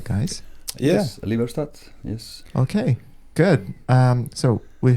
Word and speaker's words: Liberstad: Am I pronouncing it right, guys? Yes, LIBERSTAD, yes.